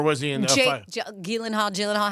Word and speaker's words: Gyllenhaal: So shouldn't it be like Gyllenhaal? The only two places that is pronounced correctly, my last name, like you did just now, is in Sweden and in IKEA. So, yes, it's Gyllenhaal.